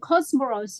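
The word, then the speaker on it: Comoros: And Cosmoros as well. That's how you pronounce it.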